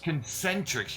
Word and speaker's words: Concentrix: Is that how you pronounce it? Concentrix. Concentrix.